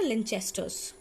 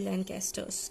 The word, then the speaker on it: Lancaster: और दूसरा होता है लिंचेस्टर्स, लिंचेस्टर्स या फिर लेंचेस्टर्स बोल सकते हो। एक second, लेंचेस्टर्स, लेट me right the spelling, LANC, लैंकेस्टर्स, ठीक है।